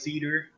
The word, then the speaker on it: Sidar: And playing It's pronounced cedar.